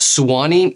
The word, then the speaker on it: Suwanee: need to know first of all i know it's a super weird spelling it's pronounced swanny and the reason is because swani has a history having